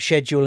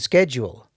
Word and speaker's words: schedule: I've got one about schedule and schedule yeah because schedule is the American pronunciation and I'm a schedule schedule is British see I hate it